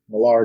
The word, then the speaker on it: Millar: it's because I've heard it both ways mark millar or Miller you are welcome to come onto the podcast and correct us because we would love to find out please I loved that we didn't ask mark millar the competitors he wrote kick-ass I'm not sure